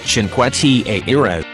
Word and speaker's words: Cinque Terre: Cinque Terre (uitgesproken als CHINKweh TAYreh) is een groep van vijf nederzettingen aan de Ligurische kust in Noordwest-Italië.